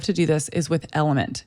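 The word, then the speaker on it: LMNT: that I love to do this is with element it's spelled l m NT and by looking at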